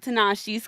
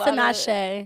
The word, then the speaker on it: Tinashe: Okay, so you guys heard about Tanashi's comments. Mm-hmm. Is that how you pronounce her name, Tanashi? Tanashi, yes. I think it's Tinashe. It It's might- Tinashe. Is it Tinashe?